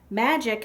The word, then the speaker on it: magic: "Magic has a soft G like Jim and a hard C like cup," she said.